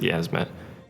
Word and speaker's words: Yiazmat: In the Japanese version, there's no I in it. It's just Yiazmat without the I, which is why I pronounce it Yiazmat.